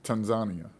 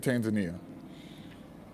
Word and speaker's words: Tanzania: He was in Tanzania. T- He was in, some people pronounce it Tanzania, right? But he was in Tanzania.